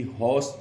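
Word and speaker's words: horse: हैं, तो ऐसे ही हॉर्स जब हमने बोला, इसमें र जो है वो साइलेंट है, ऊपर जो है चांद लगा, ह आ की मात्रा, ऊपर चांद, स नीचे हलंत, हॉर्स।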